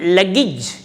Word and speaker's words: luggage: Then, do you have any luggage? Luggage. I tell you the rule. The words ending with AGE must be pronounced as ij, luggage, carriage, marriage, village.